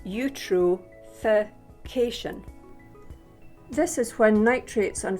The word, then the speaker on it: eutrophication: other animals via something called eutrophication that is pronounced eutrophication this is when nitrates and phosphates cause too